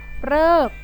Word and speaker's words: ฤกษ์: ต้อง นะ คะ ต่อ ไป ออก เสียง เป็น เรอ ก็ จะ มี เพียง คำ เดียว นะ คะ ก็ คือ ฤกษ์ ฤกษ์ นะ คะ ซึ่ง หมาย